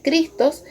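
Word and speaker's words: Χριστός: Pero si vamos al significado de esta palabra, cristianos, viene del griego 5547, que se pronuncia Christos, que significa ungido, el Mesías.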